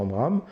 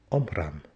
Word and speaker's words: Omraam: Ça fait partie de l'enseignement du Maître Omram.